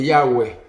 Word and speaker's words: Yahweh: y modernos, indica que el nombre correcto de la pronunciación del nombre de Dios es Yahweh.